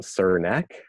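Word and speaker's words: Srnicek: I have just now learned how to properly pronounce this guy's name which I'm very embarrassed about but it's actually sir neck yeah so he wrote a book called platform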